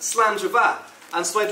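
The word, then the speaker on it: slàinte mhath: on the back of your aroma parts it's pronounced slander bar and so I'd like to propose a toast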